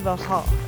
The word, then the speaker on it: Versailles: So right now we're behind the Chateau de Versailles. That's how you pronounce it.